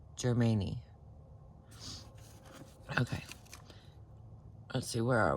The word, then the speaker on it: Germani: It is not Germany. I'm not just saying it wrong. It is Germani.